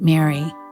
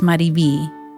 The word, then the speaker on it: MariVi: Smith, my name isn't Mary, it's Mariv. That's my nickname and what everyone at home calls me. It's spelled M A R I V I.